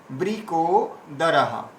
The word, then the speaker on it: বৃকোদর: ঋষি কেশো দেবদত্তন ধনঞ্জয় পৌণ্ড্রন দদ্মৌ মহাশঙ্খম ভীমা কর্মা কর্মা বৃকোদর। এখানে কেউ বৃকোদরা বলবেন না, ব্রি ব্রি বৃকোদর।